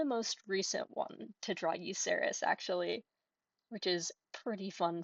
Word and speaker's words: Yuserys: But this is their character Yuserys (pronounced like You-sehr-iss) and Yuserys is a tiefling bard.